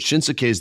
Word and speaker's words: Shinsuke: You know, it's always hard when you're speaking another language, but Shinsuke's the man, or Shinsuke. You got to take that extra syllable out, Freddie.